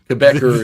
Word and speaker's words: Quebecer: Quebecer is the way that's pronounced.